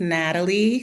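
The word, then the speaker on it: Nathalie: My name is Natalie. Silent H in my name, so just Natalie.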